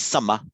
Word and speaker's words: sama: Used to be older English, we'd have pronounced it sama, but it's sama in Sanskrit.